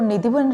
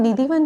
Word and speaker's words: निधुवन: उसमें भी यह है कि पहले वह निधिवन राज में विराजमान हुए उसके बाद टटिया स्थान में तो अब हम निधिवन जो कहते हैं उसका रियल प्रोनाउंस निधुवन निधुवन राज है निधिवन राज तो